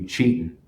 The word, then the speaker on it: Cetan: We found out after the fact that some Lakota traditions, the pronunciation of it would be cheatin'.